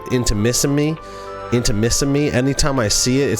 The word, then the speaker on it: Intimissimi: It's like intimacy, but Intimissimi.